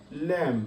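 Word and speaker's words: lamb: এইখানে বির উচ্চারণ হয়নি। লম মানে ভেড়া।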